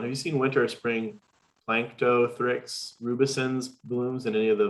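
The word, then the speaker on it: Planktothrix rubescens: fairly specific one have you seen winter spring plankto thricks rubicins blooms in any of the volunteer monitor lakes and i may have mispronounced that yeah no you got it and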